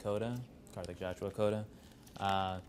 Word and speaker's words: Kota: uh just your full name and how you spell it um my full name is carthic Kota carthic Joshua Kota uh